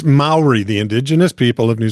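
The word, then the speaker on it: Māori: Um, I think his name is pronounced Cir Caia. Okay. He is an indigenous, it's an indigenous Mayori name.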